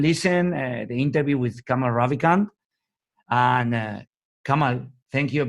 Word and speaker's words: Ravikant: Ravikant?